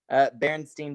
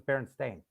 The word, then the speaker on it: Berenstain: What if I said it was Berenstain?